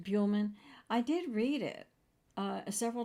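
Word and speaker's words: Buhlman: Now, William I don't know what I couldn't say his name, Bullman. I think it's And I actually had- Buellman. Buellman.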